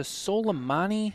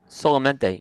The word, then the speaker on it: Solamente: Is it the Soleimani? How do you say that? Solamente. Yep. Solamente.